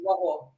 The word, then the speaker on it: Waho: Waho. Yeah, you did pretty good. Thank you. Good. Will you pronounce it for everybody, Patty? My first name is Patty Ann, and my surname is Waho.